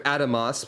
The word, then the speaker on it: Adamas: new mock at Adamas I need to remember Adamas because that's apparently how you say it according to Yola I keep wanting to say any other way of saying it I say yes a